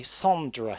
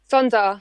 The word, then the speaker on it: Sondra: That song was accompanied by a music video and an exclusive dance remix by Sondra, if my pronunciation serves me correct. Sonda. Sondra, yes.